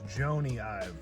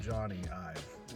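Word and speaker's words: Jony Ive: I pronounced the name wrong. It's Joanie IVive, not Johnny IV.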